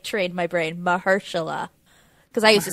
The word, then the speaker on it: Mahershala: viggo and i like mahershala but not enough is that how you say his name i always say it mahershala it's mahersha yeah okay and i only